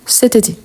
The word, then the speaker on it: cet été: ici il y a une voyelle donc on va faire la liaison et on dit cté C été donc cet été on prononce tout ensemble cet été OK cet été je